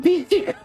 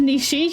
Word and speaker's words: Nishi: Mr. Bishi? I said it wrong again. Mr. Bishi? Mr. Nishi, yes.